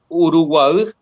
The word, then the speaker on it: Uruguay: y la provincia del Uruguay tiene nombre en guaraní, solo que en guaraní la Y se pronuncia como una vocal extra. Ya. Sería Uruguay, que significa agua del Urú.